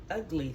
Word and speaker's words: Ugli: fix my microphone here ugly fruit I don't know how it's actually pronounced but I think it's ugly fruit and I've always I mean that's how I heard it ugly fruit it's spelled u g